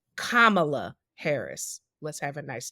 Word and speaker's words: Kamala: of right-wing people that say Cala instead of Kamala and I know Camala Kamala was a Uganda John